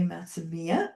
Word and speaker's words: Matsumiya: I am here with Ray, and I am from the Mourning Institute, and this is Ray Matsumiya.